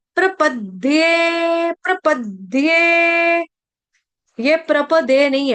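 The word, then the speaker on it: प्रपद्ये: word इसलिए ठीक है फिर उसके बाद प्रपद्य जैसे यहां पर द्य कौन सा है विद्या वाला उसी तरह से यहां पे प्रपद्य कौन सा है द विद्या वाला ठीक है तो प के ऊपर आघात आ जाएगा हलंत द का प्रपद्य प्रपद्य प्रपद्य यह प्रपदे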